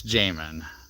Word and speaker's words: Jamin: I want to say Jamin, but there's no I, so it's Jamin, and that's the correct pronunciation.